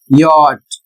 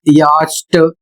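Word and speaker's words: yacht: नहीं किया गया बल्कि सी का उच्चारण ही वहां पर बंद कर दिया गया। उदाहरण के माध्यम से देखिए वाई ए सी एच टी और इसका उच्चारण होता है यट और इसकी हिंदी होती है नौका।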